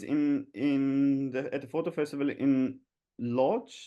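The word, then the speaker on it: Łódź: This is but in what was nice at the photo festival in Lodz in Ud, or the Uch is actually how you say it.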